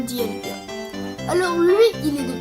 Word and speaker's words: Dialga: aussi un Pokémon légendaire il se prononce dielga en japonais mais en français ça donne Dialga alors lui il est